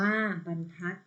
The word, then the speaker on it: บรรทัด: อีก ต่อ ไป ค่ะ บรรทัด อ่าน ว่า บรรทัด เป็น เส้น มัน ทัก